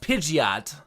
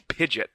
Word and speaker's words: Pidgeot: that they're using is a pige it's it's pronounced Pidgeot Pidgeot the point is is it's rid it's such